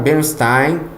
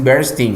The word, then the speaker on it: Bernstein: Para mim, a terminação Stein é Stein, porque na Alemanha é Stein, deve de ser um nome alemão, mas lá nos Estados Unidos eles dizem Bernstein, né?